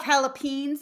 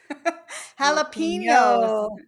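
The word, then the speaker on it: jalapeños: Um, so do you have do you have jalapen though? Jalapen for our drinks. We need a pronunciation lesson. Jalapenos. Yes. Very good.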